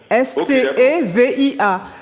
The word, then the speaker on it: stevia: Vous m'avez dit non, stevia, S-T-E-V-I-A. C'est comme ça se prononce, stevia.